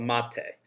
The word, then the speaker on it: mate: is called a "Mate" uh...